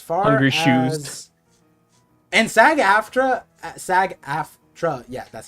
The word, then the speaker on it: SAG-AFTRA: And SAG-AFTRA, yeah, that's how you pronounce it.